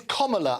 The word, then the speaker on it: Kamala: It's Kamala, and I'll tell you what, she spent a fortune, 2016, Kamala. Comma, as in the punctuation, and la at the end.